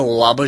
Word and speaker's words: ола: устата много говориш да ола жилата да получа сексуално удоволетворение ударението в глагола е върху първата гласна олаби ли жилата тук